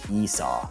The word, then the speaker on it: Esau: first one that's born is the name is Esau spelled e-s-a you but it's pronounced Esau sounds weird huh like a donkey is saying